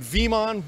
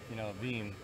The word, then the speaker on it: Veeam: We are at VeeamON, we are podcasting, we are doing all sorts of good stuff.